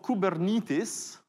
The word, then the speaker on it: Kubernetes: So it's called Kubernetes, so don't pronounce it my new wife, she's Greek, so she told me how to pronounce it.